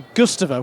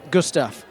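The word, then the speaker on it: Gustav: One of the first names in hydraulic brakes, Mora, last year released its newer downhill model, which I mispronounced as the Gusta when actually it's Gustaf.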